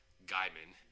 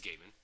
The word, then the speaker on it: Gaiman: she hated number one she kept pronouncing his name Gman right it is Gaiman yeah so if you